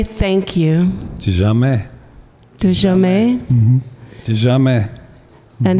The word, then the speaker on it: tizameh: De jamais.